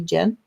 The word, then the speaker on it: Gen: My own daughter's Genevieve, and people call her Gen, and it's actually Jen, because it starts with a G and it's a hard G.